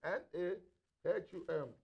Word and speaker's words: Nahum: Nahum, N-A-H-U-M, Nahum, in case I'm not pronouncing it well.